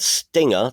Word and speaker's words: Styngr: Next, Warner Music Group, and now, if I'm pronouncing this incorrectly, that's because they've spelt it incorrectly. Warner Music Group and Stinger, that's spelled Styngr, everybody.